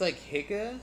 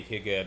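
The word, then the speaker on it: hygge: I think it's Hyuga. It's like a Danish word.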